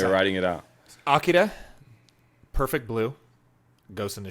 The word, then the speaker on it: Akira: In Japan, the R, they don't really have a good R sound, so it sounds like the Spanish R a little bit, where they roll it, or it even sounds like an L.